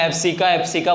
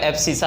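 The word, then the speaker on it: abscissa: कुछ चैनल वाले या कुछ बुक में एब्सिका बोलते होगे, हमें ऐसी गवार बातें नहीं करनी है, हमें एब्सिसा ही पढ़ना है। क्यों बच्चों? क्योंकि इसका प्रोनाउंसिएशन क्या है? एब्सिसा। कोई एब्सिका इसको नहीं पढ़ेगा, ठीक है।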